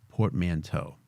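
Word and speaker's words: portmanteau: is a a Portman I always forget how to say this word a port manau of trans and infection actually let's don't be don't be be be bold man how many Port Mano portmanto sorry the word transfection is a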